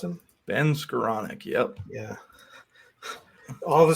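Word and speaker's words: Skowronek: Is that how you pronounce him? Ben Skoranek, yep.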